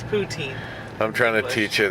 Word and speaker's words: poutine: see towards you like Putin but then is that how you say it no just Putin and you're not okay you know what stop it's poutine I'm trying to teach